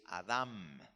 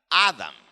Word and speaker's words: Adam: hebreo como se escribió la biblia es adam con una m al final y con el acento en la última sílaba adam en inglés lo escriben correcto a de a m adam pero lo pronuncian adán con el acento en la primera sílaba así que en hebreo es adam pro porque menciono esto